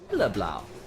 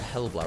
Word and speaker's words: Hellblau: Helleblau. Going to say that one today. Isn't it Hellblau rather than Helleblau?